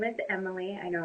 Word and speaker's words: Amylee: start off by saying it's emily i'm not saying your name wrong so in case anybody